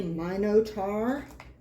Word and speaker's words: Minotaur: defeated the chupacabra um the Minotaur or as the British say monotar Martian robots Forest of